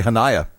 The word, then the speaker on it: Hanaya: Correct me on the pronunciation because I've done it 3 different ways. I'm going to say Hanaya. Yes.